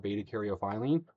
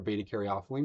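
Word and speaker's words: beta-caryophyllene: of the effects of betaarophilene or betaarophelene depending how you pronounce it.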